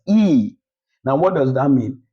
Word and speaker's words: y: It's no longer pronounced as Y. It's pronounced as E.